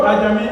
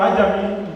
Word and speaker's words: Ajami: The Ajami writing system, the word Ajami or Ajami depends on the dialectical pronunciation.